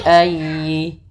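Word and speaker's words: أَيِّ: Kemudian dalam ayyi ditekan huruf ya-nya karena dia tasdid, dan huruf ya termasuk huruf lin yang lembut, di dalam pelafalannya jangan dihentakkan. Tapi fabi ayyi, fabi ayyi a, fabi ayyi alai.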